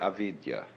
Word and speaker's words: avidya: bound fascinated and this is called in Sanskrit avidya a v i d y a Vidya is